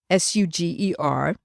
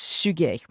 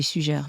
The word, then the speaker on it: Suger: name was abe suge it's written like sugar s-u-g-e-r but it in fact is pronounced suge and some people say xuja i know i just